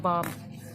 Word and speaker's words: balm: बाम क्या होता है, जैसे कहते हैं ना झंडू बाम, तो वो बाम नहीं होता, BAM, बाम नहीं होता, BALM होता है, बाम, ठीक है।